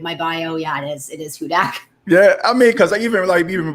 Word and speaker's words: Hudak: A lot of people don't know how to pronounce it, and that's why I have it in my bio. Yeah, it is Hudak.